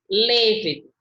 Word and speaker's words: lévedo: Aqui ele está falando que é proparoxítona. Como é que pronuncia? Deixa eu ver bem se outra coisa que eu vou anotar. Ó, proparoxítona, lévedo. Nobel.